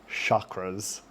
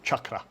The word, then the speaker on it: chakra: So it's CH, cha, and then a tapped R. So chakra is the correct pronunciation.